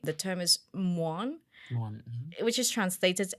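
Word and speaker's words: ມ່ວນ: So the word is muon.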